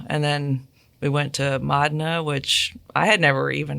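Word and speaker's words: Modena: then we went to Madna, which I had never even heard of, and I was actually calling it Modina until someone told me how to pronounce it.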